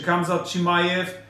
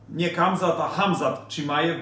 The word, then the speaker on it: Hamzat Chimaev: Czy Kamzat Chimaev, Hamzat Chimaev, bo tak się właściwie wymawia, Hamzat Chimaev da radę udźwignąć tutaj dwie walki w ciągu 10 dni.